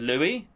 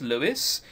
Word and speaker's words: Louis: That says Louis. Lewis is spelled L-E-W-I-S. Anyone who says that's Lewis is either Irish or wrong. Just an FYI, so if you're an American, or even from England, and you've got a name like that, and you pronounce it Lewis, you're wrong.